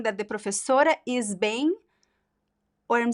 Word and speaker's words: bem: A pronúncia, Alexi, I like your bem. It makes sense. It makes sense. You have like the nasal sound, the two vowel sounds, right?